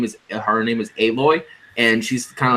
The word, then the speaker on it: Aloy: Aloy, yeah, Aloy is how you pronounce her name.